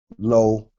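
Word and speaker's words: לוֹ: But when you see it with the lamed, the wow, with the cholam, lo, this means to or for him.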